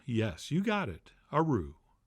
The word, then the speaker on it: roux: And we'll stir all this together to form, yes, you got it, a roux. R-O-U-X. Oh yeah, the X is silent.